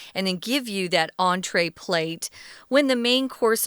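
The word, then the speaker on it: entrée: about the entree plate the reason why that word entree has that funny line over it is because it's french so it's pronounced entree and that's the entree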